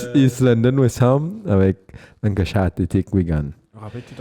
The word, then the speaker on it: Lancashire: Blackburn, c'est Lancashire. Comment tu prononces ça?